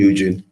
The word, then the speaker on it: Eugene: Is it Eugene, your name? Yep. You can call me Eugene. Oh. Yeah, that's good. You pronounced it correct.